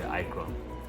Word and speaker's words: Akron: Americans say Akron, New York.